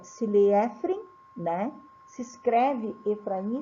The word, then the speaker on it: Efraim: Frei Efraim de belev eu tô lendo Efraim para vocês perceberem a diferença de escrita mas a pronúncia é Frei efr de belev Então os restos mortais